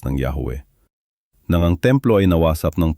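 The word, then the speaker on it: Yahweh: Subalit dahil ang Yahawe ay hindi na binibigkas ng matagal na panahon, ang eksaktong kombinasyon ng mga patinig ay hindi tiyak. Ang pinakakaraniwang rekonstruksyon ay Yahwe.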